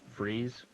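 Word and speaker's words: frieze: Would be pronounced freeze.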